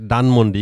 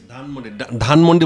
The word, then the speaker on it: Dhanmondi: নাও উই আর অ্যাট ডানমন্ডি। ইংলিশে ধান বলতে কোনো ওয়ার্ড নাই, ডানমন্ডি। DHANMOND, ডানমন্ডি। Now we are at Dhanmondi. Now we are at Dhanmondi. ধানমন্ডি। ধানমন্ডি বলা যাবে না, ইংলিশে কোনো ধর উচ্চারণ নাই।